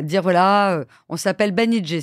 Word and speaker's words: Banijay: voilà euh on s'appelle banij ça se prononce banij pas Banijay et on va devenir